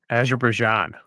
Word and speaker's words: Azerbaijan: Since we're doing plugs, Evgeny, how do you feel about Azerbaijan?